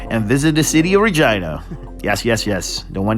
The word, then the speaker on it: Regina: moose named Mac and visit the city of Regina yes yes yes the one that Ryan Reynolds said rhymes with fun and then on to Winnipeg Manitoba